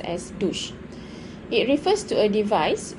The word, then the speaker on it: douche: wash or to soak we pronounced it as douche douche and not duke or ducey or something like that it is pronounced as douche it refers to a